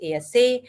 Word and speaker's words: IESE: In Europe, in Spain, you have IESE, which is pronounced ASA, IE, ESADE.